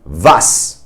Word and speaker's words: was: So in the word was, which means what in German, it is an S sound, as you can hear, s, as in soap, right?